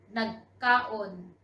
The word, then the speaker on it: nagkaon: Nagkaon. Nagkaon. Actually, if you will use nag, the kaon there would be pronounced differently. So we could say nagkaon. Instead of kaon, we say nagkaon.